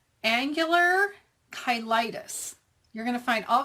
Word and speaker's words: cheilitis: finally found out what it's called, and it's pronounced angular kyitis. You're going to find all kinds of people on YouTube who are mispronouncing this name. So, let me show you how I learn how to pronounce kyitis.